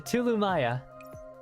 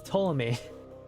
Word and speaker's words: Ptolemy: The Tulumaya. It's too many, too many, it's... No, it's Ptolemy. I mean, it's you can pronounce it as Ptolemy or Ptolemy.